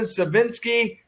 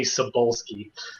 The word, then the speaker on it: Sebolsky: by correcting you because a lot of people have a problem pronouncing my last name it's actually sebolsky no you're joey i'm not joking there's plenty of people that have messed up that last name so it's okay it's actually polish my last name that's